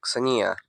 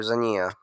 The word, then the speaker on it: Xenia: Maria married George Mikhailovich of Russia, and together they had two daughters, Nina and Xenia, or Zania. I think it's with he pronounced it with a Z, not the X.